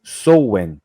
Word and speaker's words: Samhain: se escreve Sam el tá escrito aqui ó pronuncia-se souen né tá no Google e